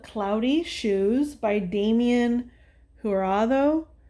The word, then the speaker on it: Jurado: It's called Cloudy Shoes by Damien Jurado, I think is how you say it. It's Jurado. Um, and so there's a couple of messages that I got with that energy.